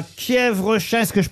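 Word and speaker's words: Quiévrechain: Direction le Nord, à Kievrechain, est-ce que je prononce bien? Kievrechain, oui.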